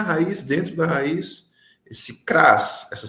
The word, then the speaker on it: cras: Nessas duas palavras, nós ainda temos ali na raiz, dentro da raiz, esse Kras, essa sílaba Kras, né?